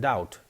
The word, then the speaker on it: doubt: For instance, B is silent in doubt and debt.